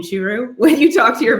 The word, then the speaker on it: Churu: vet okay and that way you are comfortable pronouncing it saying shiru when you talk to your veterinarian if they'd